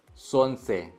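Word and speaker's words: солнце: труд, капитан, पारेन, ग्रुपा, सोनसे। यहाँ पे L silent है, कभी कभी होता है कि कुछ अक्षर जो है वो साइलेंट होता है इंग्लिश की तरह ही।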